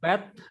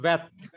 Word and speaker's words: Bet: Then Beth and Veth. Its pronunciation, transliteration in English is B or V.